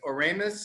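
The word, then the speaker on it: Oremus: dry wine the mandolas the ferment from is oramus is that is how you pronounce it okay and so how why hungary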